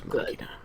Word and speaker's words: machina: Vindicated okay Dex Machina Dex makina I was right the first time you can be a